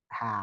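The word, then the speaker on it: حاء: এই অক্ষরটা উচ্চারণ হবে হলকের শুরু, শুরু কোথায়?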